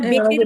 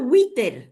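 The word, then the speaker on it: وتر: will wow জের উই আমরা বেতের বলি না বেতের বেতের উই তের হ্যাঁ আমরা বে আমি ওয়াও ওয়াও বা উচ্চারণ করি না ওইটা হ্যাঁ হ্যাঁ এটা তো এখন আমরা দেখবেন অনেকে বলে উইতের উইতের হচ্ছে বেতের বেতের বেতের না আমরা ভুল বলতাম আর কি হ্যাঁ তাহলে ওয়াও জের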